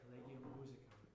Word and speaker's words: Collegium Musicum: I make the joke every time, yes, that's how you say it, Collegium Musicum.